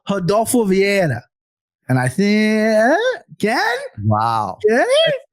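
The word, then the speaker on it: Rodolfo Vieira: an School of pronunciation my Midwest ass would go rodulfo Vira that's what I would say but no I've been through the hard I've been through this training so I'm gonna go Hado via and I think again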